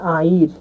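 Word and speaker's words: air: পানিকে বলা হয় আইর। আইর, এ আই আর, আইর, এয়ার, এয়ার, এ আই আর মানে কিন্তু এয়ার হয়, কিন্তু মালয় ভাষায় এর উচ্চারণ আ হিসাবে হবে, তাই হবে আইর।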